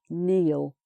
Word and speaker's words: kneel: So it's a silent K. So you begin with the N sound. Kneel, kneel.